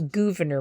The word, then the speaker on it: Gouverneur: It's spelled different. It's not Governor Morris, it's Gouverneur Morris.